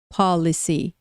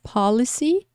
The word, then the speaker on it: policy: Então, policy, police. Policy, police. A palavra que está no começo, pronuncia mais forte no começo.